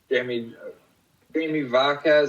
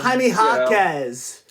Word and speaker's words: Jaime Jaquez: Guys like Jamie Vaquez, I can never say his name. Herbert Jones. Jaime Jaquez.